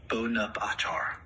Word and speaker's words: Bonaparte: As for the pronunciation of my name, in French, it is typically pronounced Bonaparte. The first syllable is stressed, and the emphasis is placed on the final.